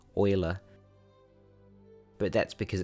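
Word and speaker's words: Euler: it sounds like it starts with an O, oiler. But that's because it's spelled uler and he was German. So it's not pronounced uler, it's pronounced oiler.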